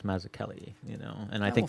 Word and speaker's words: Mazzucchelli: I was I remember I used to say maach Chelli all the time and then somebody's like no it's maak Kelli you know and I